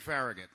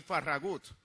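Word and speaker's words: Farragut: an United States Navy David faragate or more accurately pronounced David faragut whose biological father was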